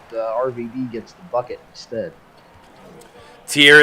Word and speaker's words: Tyr: Tier is how it's said. Okay. Tier. Okay. Greek mythology.